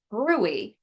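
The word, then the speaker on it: bruit: brewery it's spelled brute b rui t but pronounced Brey which is turbulent blood flow follow-up testing may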